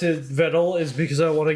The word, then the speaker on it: Vedal: Viddle always I like how she pronounces his name Viddle, though it's Viddle.